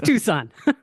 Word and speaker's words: Tucson: pronouncing words like Hyundai, Tucson is Tucson. Yeah. It's Tucson. Okay, whatever. You're still doing it. I'm still doing it. I'm still calling it Tucson.